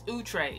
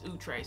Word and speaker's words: Outre: like different or something like that it's it's utre if you see it typed out it's it's utre so um that's the actual way to pronounce